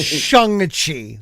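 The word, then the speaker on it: Shang-Chi: in the ten things excuse me george it's shanghai let's pronounce it correctly okay i i i thought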